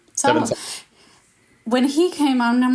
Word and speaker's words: Sawa: Sawa.